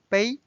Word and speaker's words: 杯: itself means cup base cup bay first tone it's neutral now let's